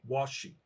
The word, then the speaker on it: Washi: It's not Wushi, is it? Washi. Washi. Okay, Washi. Like, right.